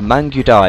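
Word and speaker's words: Mangudai: unit inside of there the mang or mangai I'm not sure how it's pronounced the mangu die yeah that's right okay so they're now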